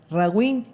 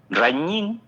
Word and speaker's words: Rañín: Ragín Ken o decime cómo se pronuncia, eh, Rañín.